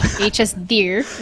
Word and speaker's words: HSDIRR: It is HSDIRR. That's how Finnish would pronounce that. HSDIRR.